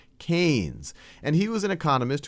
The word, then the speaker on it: Keynes: So this right here is a picture of John Maynard Keynes, and I often mispronounce him as Keynes because that's how it's spelled, but it's John Maynard Keynes.